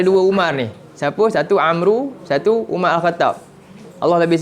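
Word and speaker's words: عمرو: Dia Amru ni dia ejaan sama . Satu macam ni. Satu ada waw. Bila ada waw ni, dia sebut cara baca dia macam ni.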